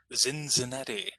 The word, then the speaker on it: Cincinnati: know that ohio and cincinnati had lots of germans living here living in columbus living in cincinnati living in louisville uh in fact cincinnati uh we used to pronounce cincinnati with a z zenzanetti so uh in this